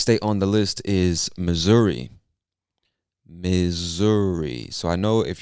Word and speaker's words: Missouri: but we pronounce it missouri with like a z sound missouri and missouri is known